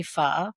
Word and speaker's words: pho: It would be pho. Pho? Yeah, pho is a beef noodle soup, but they can also make it with chicken.